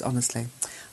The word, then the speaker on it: honest: silent letters Andy said in honest H is silent while speaking not in writing no K is silent